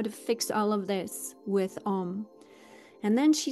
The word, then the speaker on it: Om: is the sound of Om. And it is A-U-M, but we can totally just sing it or pronounce it as O-M. It is totally fine.